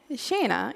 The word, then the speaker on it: Shaena: you will know know Shana is also how we say hello to each other in Sweden but there's a connection